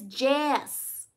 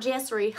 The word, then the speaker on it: Jess: Oh, no, my name is Jess. J-E-S-S. Not Jessery.